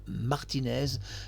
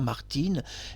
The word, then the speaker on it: Martines: sous le nom de Martinez. Selon certains pays, on ne prononce pas Martine.